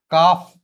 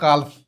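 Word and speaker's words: calf: okay that is almond काफ नॉट काल्फ चाक नॉट चाल्क palm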